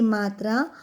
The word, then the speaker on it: मृ: The pronunciation is रि with the letter. It merges with the letter like मृ.